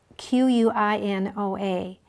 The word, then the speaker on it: quinoa: andes mountains it's spelled q-u-i-n-o-a actually is an indian word uh even though we say it quinoa okay great usually natural